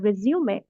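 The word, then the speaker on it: résumé: तो रिज्यूमे basically इसका इसका जो मीनिंग है वो इट्स a French word, we pronounce it एज अ रिज्यूमे।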